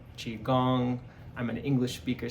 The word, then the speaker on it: Qigong: on the ancient and contemporary healing art of Qigong. How we pronounce it, what it means, and how we can use it.